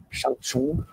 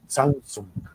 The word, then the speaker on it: Zhang Zhung: Aqui é a civilização Shangchun, ou uma pronúncia mais original do arcaico chinês, Zhangzong.